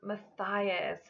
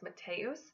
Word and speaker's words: Matthias: Some people will try to pronounce this name as Mateus. This name is not pronounced that way, but if you